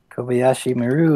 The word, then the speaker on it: Kobayashi Maru: go to Robert first called the Oishi Maru Kobayashi Maru is correct right Shawn the Kobayashi Maru is correct sandy Kobayashi Maru director killed what this panel is the Kobayashi